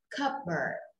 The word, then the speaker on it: cupboard: Mặc dù từ cup là một cái tách và từ board là cái bảng, nhưng hai từ này ghép lại thành một từ thì chúng ta sẽ đọc là cupboard.